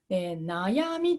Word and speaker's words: 悩み: が軽くなることです例えばです例えば悩みと読みますこれ漢字の読み方